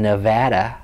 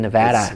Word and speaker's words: Nevada: are like that's not how you pronounce our state why are you being stubborn yeah and so when I went spoken Nevada thank you I had to train myself to say the batterer cuz you know nobody